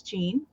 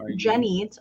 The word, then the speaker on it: Jenny: There's Jean, or Jenny. Jenny, I was pronouncing your name wrong.